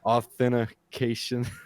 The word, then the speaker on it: authentication: get into about anything you missed a syllable there by the way authentication i always add the outfit nobody everybody says wrong everybody says it's authentication authentication right oh no you